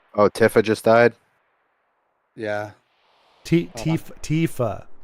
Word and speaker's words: Tifa: Tifa just died. Wait, what? That's not supposed to happen. Oh, Tiff just died. Yeah. Tifa. It's like with It's like teeth but with a f.